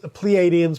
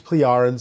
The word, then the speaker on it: Pleiadians: Is that how you pronounce it? Yes. Pleiadians, Pleiadians, same difference.